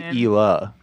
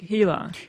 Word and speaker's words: Hila: like i always say ela oh well i americanized it and he said like hilar because ela i say i like silent age yeah yeah don't use